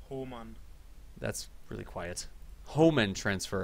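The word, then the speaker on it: Hohmann: It's actually pronounced Homan.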